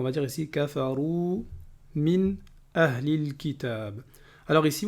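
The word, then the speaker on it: أهل الكتاب: Alors ici, vous voyez bien que j'ai prononcé le lam ahlil kitab. Et à chaque fois qu'on a alif lam, comme on l'a déjà dit, lorsqu'il y a un soukoun sur le lam, eh bien c'est une lettre lunaire, ça veut dire qu'on doit prononcer le lam.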